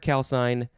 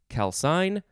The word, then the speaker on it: calcine: It is the word calcine. You could pronounce it either calcine or calcine.